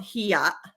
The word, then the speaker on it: hiya: okay, it's called hiya. That's how you pronounce it, and it's just like being ashamed or embarrassed.